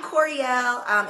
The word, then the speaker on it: Koereyelle: So I'm Koereyelle. It's much easier to pronounce than it looks. It's like L'Oreal, but with a K.